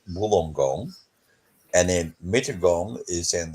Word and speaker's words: Wollongong: you look at it we pronounce that Wollongong and then Michigan is